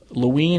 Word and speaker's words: Loween: spell looing for us Luanne is spelled Lowi e n and it's derived from the word Halloween and when I'm Halloween without